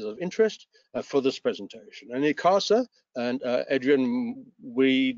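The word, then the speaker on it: ICASA: of electromagnetic frequencies of interest for this presentation any casa and uh adrian we not quite as english as you are we pronounce it as it casa rather than i casa uh regulates from nine kilohertz to one terahertz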